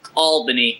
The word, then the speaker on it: Albany: Albany oh yeah radio baby it's uh it's pronounced Albany you Pittsburgh apparently I can't even announce the